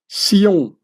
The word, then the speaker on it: Sion: And as the Templars originally spoke French, the French word for Zion or Zionist is still written with an S, pronouncing it as Sion or Sioniste.